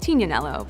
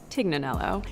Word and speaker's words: Tignanello: The name The Tig comes from a wine called Tignanello, but oftentimes it's mispronounced Tignanello.